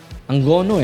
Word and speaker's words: Angono: Isipin niyo po ha ah mula pa sa Angono o Angono Rizal. Ang gono eh no yun daw ang tamang bigkas eh.